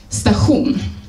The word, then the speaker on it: station: La vorto station ni prononcas stahun.